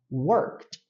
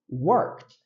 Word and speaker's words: worked: o e nós pronunciamos worked worked a gente pula o e e já vai pro último som que é o som do d que vira meio que um t nesse caso já no